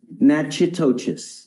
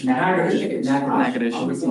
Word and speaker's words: Natchitoches: I butchered the pronunciation, but. Natchitoches. What is it? Natchitoches.